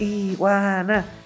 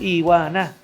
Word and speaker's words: Iguana: Y también cuando elegí Iguana, pues dije, son 3 sílabas. Iguana, Iguana. Es muy fácil de corear. Sonoro, melódico, sí. Aunque en De recordar. En México es Iguana. Y en Estados Unidos es Iguana, Iguana.